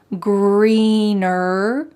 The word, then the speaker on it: greener: So don't forget that hard R sound in the word greener at the end, and also in the word other. Having that strong colored R sound at the end of the word is essential in American English.